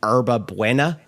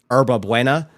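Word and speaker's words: hierba buena: out of this, but herba buena is how it's pronounced, I believe.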